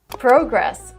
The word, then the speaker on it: progress: The American pronunciation is progress with the short a sound like hot and stop.